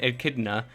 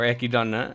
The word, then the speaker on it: Echidna: garfield sleeping ram and echidna or ekidana um depends on how you want to pronounce it um in may